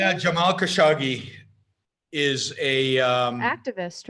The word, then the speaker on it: Khashoggi: Khashoggi, is that how you pronounce his name? Yeah, Jamal Khashoggi is a activist, right?